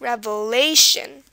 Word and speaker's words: revelation: Again, it's on the second from last, revelation.